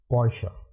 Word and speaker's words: Poisson: It is pronounced as Poisson.